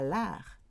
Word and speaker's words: l'arc: Normally you pronounce the C. at the end of words, but here you don't. Tir à l'art, like art de triomphe.